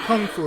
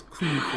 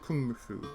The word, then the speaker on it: Kung Fu: Not Kung Fu, it's Kung Fu. It's pronounced Kung Fu.